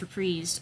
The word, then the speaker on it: Reprise: label um reprise records that is how it's pronounced reprised um so that he can own his own